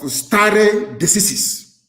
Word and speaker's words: stare decisis: It is called stare decisis. It means, I will spell it for you.